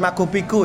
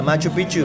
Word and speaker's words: Machu Picchu: Bacanya bukan Machu Picchu ya guys ya, Machu Picchu. Memang dia cara ngomongnya gitu.